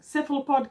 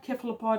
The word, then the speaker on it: cephalopod: And There are about 7 pronunciation of cephalopod that you can't say are wrong. Cephalopod, cephalopod.